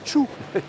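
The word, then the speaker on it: Thiou: Elle s'appelle le Tchou. Ça s'écrit T-H-I-O-U, ça se prononce Tchou.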